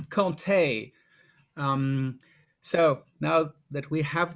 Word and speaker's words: Comté: first key element is how the name is pronounced it's conte so now that we have that down we